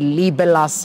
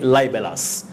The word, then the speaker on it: libelous: it's libelous is it liberlus how do you pronounce this you say lie lie bellas but remember you can also say label us but label us is rarely used you say libelous it's from the word